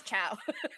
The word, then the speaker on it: Wachowski: I found a video of Lily Wachowski saying her name, and she does chow.